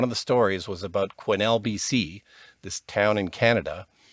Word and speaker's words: Quesnel: I was absolutely mortified, because as soon as they said that, I'm like, oh, of course it's Quesnel.